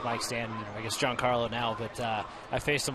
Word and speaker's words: Giancarlo: They said people mispronounced his first name all the time. They called him Giancarlo. It's Giancarlo. And so he just went with Mike.